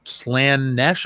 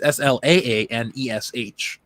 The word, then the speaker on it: Slaanesh: Or Slaanesh. I don't know how you pronounce that word. It's Slaanesh.